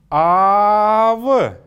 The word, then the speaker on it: ав: И теперь это же слово, подчеркивающее то, что звук или гласная «а» может быть долгой, «ав», «ав», «ав» — это отец или дедушка.